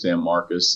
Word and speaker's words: San Marcos: Um but what I'll say is that the right way that people say it locally is San Marcus.